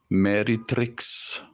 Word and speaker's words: Meretrix: Pliny the Elder, Pliny is spelled P-L-I-N-Y, Pliny the Elder described her as a Regina Meretrix, M-E-R-E-T-R-I-X.